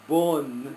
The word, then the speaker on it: Bon: And it's not pronounced, it's pronounced I can't do it. Bun. It's not really bun, it's bun.